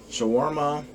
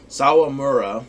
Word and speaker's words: Sawamura: but two strikeouts uh shawarma some mura so so why do i always say this guy's name wrong sawamura thank you sorry when one inning